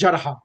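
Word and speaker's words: جرحى: So it's Jarihun, singular, and Jarha, Ya is silent. So it's Jarha. Jarha, right.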